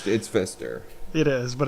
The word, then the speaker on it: Pfister: The manufacturer is Pfister, but it's spelled Pfister. Yeah. No, it's Fister.